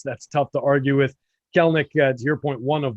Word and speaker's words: Kelenic: A lot of people have been saying Kelenic or Kelenic. That second E is silent.